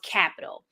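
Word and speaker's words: Qapital: to go over is called capital and it's spelled Capital with a Q QA p i t a l um and what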